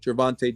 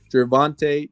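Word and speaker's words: Gervonta: hung out she used to hang out with gervante Davis now if you guys don't know who he is Google his name and see what happens let me say his name again gervante Davis so g e r v o n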